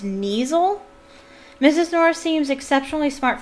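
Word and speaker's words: Kneazle: This is, yes, I think it's pronounced Neasel.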